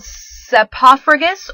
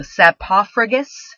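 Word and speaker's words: saprophagous: first one is called SEPA fergus or sap ráfagas depending on who you talk to I always learned it as it rhymes with sarcophagus so sap Poff Rigas to say it slowly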